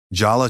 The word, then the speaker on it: Jala: The proper pronunciation is ja lai tangent ya na maha. Jala has the j as in jump and both a sounds as in about.